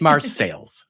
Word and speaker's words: Marseilles: who have noted that I have been mispronouncing the name of Marseilles. It's not the fancy French name I was using. My apologies. It is Marseilles, okay?